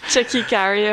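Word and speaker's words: Tchéky Karyo: Is it Chucky Cario? That's how you say it. Yeah. How would you say it? Check carrier. Yeah, that's correct.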